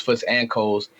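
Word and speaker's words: Foots x Coles: It's pronounced Foots and Coles. It's spelled Foots times Coles.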